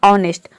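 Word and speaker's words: honest: रहता है for example ऑनेस्ट ऑनेस्ट में आप देख रहे हैं कि वड के शुरू में एच आ रहा है और एच के बाद ओ आ रहा है तो यहां पे एच को हम प्रोनाउंस नहीं करते हैं यहां पे डायरेक्ट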